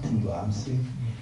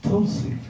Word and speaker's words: Tulsi: It's not Tulasi, it's Tulsi. If you say Tulasi, you're saying two lassies.